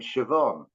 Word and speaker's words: Siobhan: the the woman's name Siobhan or it's a b and an H together that's pronounced like a V and I never sort